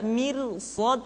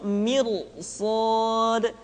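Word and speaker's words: مرصاد: Sementara yang berikutnya ra dibaca tebal pula ketika berhadapan dengan huruf-huruf isti'la. Contohnya misalkan inna rabbaka labil mirsad. Tidak dibaca mirsad tapi mirsad. Kenapa? Karena setelah huruf ra diikuti oleh huruf isti'lah.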